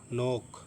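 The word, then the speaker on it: knock: के के बाद आने वाला एन। तो के साइलेंट रहेगा।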